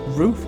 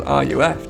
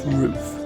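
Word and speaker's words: RUF: actually the correct pronunciation I actually spent years think it was R u F due to all the letters being capitalized but apparently it is roof and I shall like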